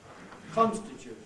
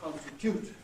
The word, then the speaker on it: constitute: But the whole of the rest of the English-speaking world is agreed on saying realise, not realise, and constitute, not constitute.